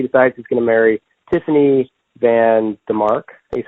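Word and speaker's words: Tiffany VanDemark: Then 2006, he decides he's going to marry Tiffany Van DeMark, is how you pronounce her name, and he's married to her until 2009.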